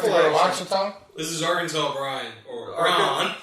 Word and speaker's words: Ouachita: More like Lake Ouachita.